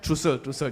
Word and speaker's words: streusel: Trussel. Yes, pronounce it correctly. Trussel.